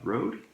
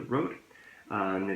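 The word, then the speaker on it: Røde: I have gone out and bought a, in English, I think it's called Rode. I think that's how you pronounce it. However, if you notice the second letter in the name, that is actually a Danish letter, so I would normally pronounce it differently. But I think you call it the Rode.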